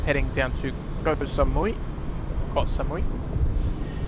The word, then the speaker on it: Koh Samui: Koh Samui, as it should be pronounced.